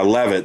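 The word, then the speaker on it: Leavitt: Levitt, is that how you say her name? Yeah, Levitt, the press secretary.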